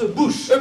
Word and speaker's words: Bûche: Et ça se prononce bouche.